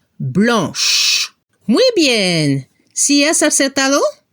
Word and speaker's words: blanche: Transformamos la C por CHE. La pronunciación al final al femenino se debe escuchar el sonido sh. Blanche.